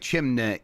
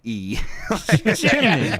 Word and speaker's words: chimney: You're almost putting it after knee. It's like chimney echimney. I somehow made m a two syllable sound.